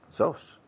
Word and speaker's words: Sos: Sos. Like the rice, con el arroz.